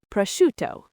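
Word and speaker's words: prosciutto: How about prashto? P r o s c i u t t o. Ah, another great one. The ci combination here makes a shuh sound. So it's not prouto, it's proto with the stress on the shoe.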